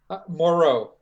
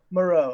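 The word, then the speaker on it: Moreau: your last name Paul Muro Muro okay I've been singing rectly for months I just didn't know like the doctor yeah the island with the doctor I need to do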